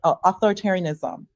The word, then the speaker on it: authoritarianism: It is about resisting creeping authoritar authoritarianism. Authoritarianism. That's a mouthful, six syllables, but we all know what the word means.